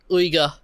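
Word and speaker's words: Uyghur: things to the sorry I'm always getting this pronunciation wrong the wig here the the um the Wier Wier that's it yeah China what are you doing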